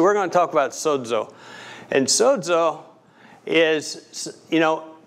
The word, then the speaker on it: sozo: it comes across as soco but when it's pronounced in greek there's there's a d in there because the greek letter is a is a double letter so when i say